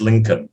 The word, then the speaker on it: Lincoln: but that's a hard one l-i-n-c-o-l-n-col but it's pronounced lincoln yeah were his parents happy to see him